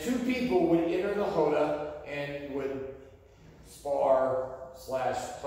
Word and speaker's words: roda: Okay, R's are pronounced like H's in Portuguese, right? So it looks like a roda, but it's roda, or roda.